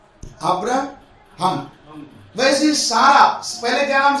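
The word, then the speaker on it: Abraham: अभी HAM है English में, एक्चुअली इसका प्रोनाउंसिएशन के मुताबिक ABRAHM, अब्राहम।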